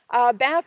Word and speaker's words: Banff: I know some people have called it Bath because it sounds like Bath in a video. It's a weird name. People have also gone Banff, which is another common name, B-A-N-I-F-F.